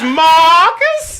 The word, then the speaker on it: Maarcus: See, we're gonna spell it M-A-A-R. One more A's is silent. No, It's silent. No, oh, his name is Marcus.